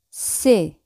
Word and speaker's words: sais: Yo sé es je sais. Je sais. Ese al final siempre no se pronuncia.